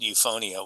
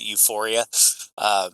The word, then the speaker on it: Euphonia: Nobody knew how to say it. A lot of people called it Euphoria, including people on our own team, and so we we